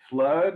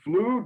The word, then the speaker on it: flood: Flood is, Prince. it's like, two O's, you'd normally say flu, but no, it's flood, because English is Flood.